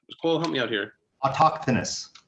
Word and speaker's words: autochthonous: And many people, not just Greeks, have this myth where they're I can't pronounce the word autonomous. What, Cole, help me out here. Autochthonous. Autochthonous. Thank you. Autochthonous.